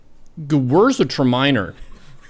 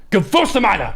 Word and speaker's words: Gewürztraminer: It's a Gewürztraminer. Is that how you pronounce that? Gewürztraminer. Gewürztraminer. Gewürztraminer. Gewürztraminer. Gewürztraminer. Gewürztraminer. Gewürztraminer.